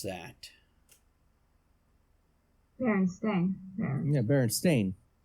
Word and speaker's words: Berenstain: Berenstain. Yeah, Berenstain. It's Berenstain. Because they were a stain on society. Not Stein. What? It's not Berstein. It's Berenstain.